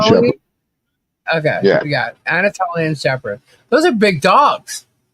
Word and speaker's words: Anatolian: Anoliatan Shepherd. Anoliatan Shepherd? Or Anatolian? Anatolian Anatolian? Shepherd. Okay, Yeah. we got Anatolian Shepherd.